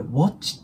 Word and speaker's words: watch: のとこですねこの Watch なんですけどこれもね発音する時大体あと O の中間をの棒引になるのでこれ Watch てよりもちょっとあに近くなるんですね Watch で今回これ過去